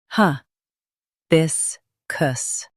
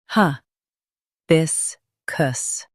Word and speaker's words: hibiscus: Hi. bis kus Now, read the syllables shown on the screen naturally. Hi. bis kus Hi. bis kus Stress bis and soften kus.